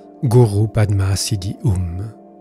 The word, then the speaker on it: Padma: Ha Hum Vajra Guru Padma Siddhi Hum. Que les Tibétains prononcent Om Ha Hum Benza Guru Pema Siddhi Hum. Je considère ce mantra comme